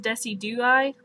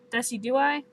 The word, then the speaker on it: Decidueye: I think it's pronounced Decidueye. Decidueye.